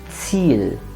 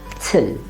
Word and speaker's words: Ziel: Or here, it is Ziel and never till, but Ziel. Or this one, AU, remember the pronunciation is oi, and it's a nice long oi.